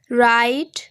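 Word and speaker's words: write: দিয়ে শুরু হয়েছে এবং ডাব্লিউ এর পরে আর আছে, তার জন্য এখানে ডাব্লিউ এর উচ্চারণ হবে না, অর্থাৎ ডাব্লিউ অনুচ্চারিত থাকবে এবং আর দিয়ে উচ্চারণ নেবেন, রাইট, রং এবং রেসলিং এরকম উচ্চারণ হবে।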